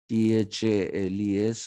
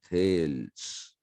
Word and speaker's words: Thales: uh the pronunciation the pronunciation in greek whenever there is an es you have to read it as ease they lease socrates you don't say socrates you don't say tales so this is thales then you have an